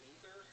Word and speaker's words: Aether: Because I thought that I read God of Upper Air is actually pronounced Ether, and I was like, I'll just call it Aether instead.